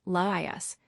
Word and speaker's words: Laius: Laius, pronounced as 3 syllables, Laius, the last king of Thebes before Oedipus.